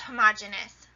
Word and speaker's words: homogeneous: They are homogeneous. Sometimes you might hear it pronounced homogeneous.